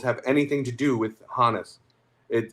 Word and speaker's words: Honus: Yeah, but but he says his name is Hannes. There's okay audio of him saying my name is John. There's there's audio that I didn't send you where the the interviewer says, "Where does Honus come from?"